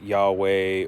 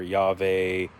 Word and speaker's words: Yahweh: and the accent markings would signal to say Adoni instead of there's there's debate over whether it's Yahweh or Yave or some other some other pronunciation but very clearly wasn't Jehovah over time people were